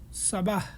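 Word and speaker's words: صباح: সকালের আরবি হচ্ছে সাবাহ, উচ্চারণটা সোয়া, সাবাহ।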